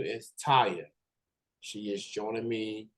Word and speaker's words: Tayiha: so stay with me y'all her name is Taya she is joining me right now how's it